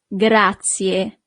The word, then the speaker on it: grazie: Thank you is grazie. Grazie. So you really need to pronounce the last letter, I in English, but the letter I in Italian is E.